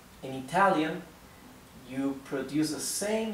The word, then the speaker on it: yo: most similar to the right thing okay once you you manage to pronounce you can try to pronounce okay good